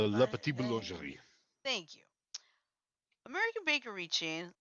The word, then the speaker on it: La Petite Boulangerie: Did I spell that? Did I say that right? La Petite Boulangerie.